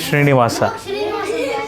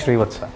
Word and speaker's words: Srivatsa: It is Srinivasa. No, that's a wrong way of pronouncing my name. My name is Srivatsa.